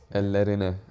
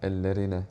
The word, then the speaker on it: Ellerine: Ellerine. You have to roll your R's. Ellerine.